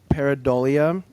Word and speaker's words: Paridol: And the pronunciation of it. Yeah. Some people get tripped up on it, but it's paridol.